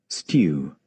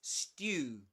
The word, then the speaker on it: stew: And this word stew. This word is pronounced, just so you know, is pronounced in British English as stew. Stew. But in American English, it's pronounced as stew.